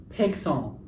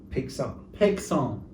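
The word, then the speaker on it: Paixhans: I think it's Pegson. Pegson.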